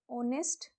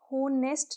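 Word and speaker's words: honest: इसके बाद, एन ऑनेस्ट मैन is trusted, ऑनेस्ट होनेस्ट नहीं होता है, इस बात को ध्यान रखना। हो है, एच इसमें साइलेंट होता है, ऑनेस्ट बोला जाता है, ऑनेस्ट में ओ आ रहा है, दैट्स वाई ये एन।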